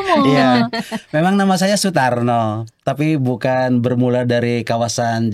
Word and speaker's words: Sutarno: Tapi bedanya dengan di Jawa itu ditulisnya A, bacanya O. Kalau di Sunda itu ditulisnya O, bacanya O.